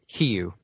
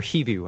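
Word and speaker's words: Hivju: Hiu, I think, or Hivu. I think the J is silent.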